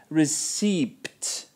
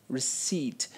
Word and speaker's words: receipt: tense of teach and I hear receed receed and not receip receipt the p in this word has absolutely no sound so please don't say it now you know so